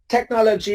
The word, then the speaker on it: technology: And for words taken from Greek, every CH thing becomes a K in sound.